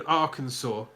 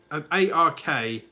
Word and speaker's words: Arkansas: And two, for so long, I'd read an ARKANSAS, and I'd pronounce it Arkansas. Because Arkansas should have a W at the end. Arkansas, not Arkansas.